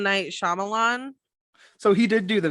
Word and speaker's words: Shyamalan: no no no no like shyamala like kamala okay i'm wrong um hold on let me google it real quick okay oh yeah it's m night shyamalan so he did do